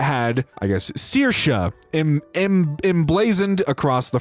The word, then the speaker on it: Saoirse: Sours? Awful mispronunciation. I am aware sours Sayers Sayers is a name. It's my name. It's Irish and pronounced Saoirse.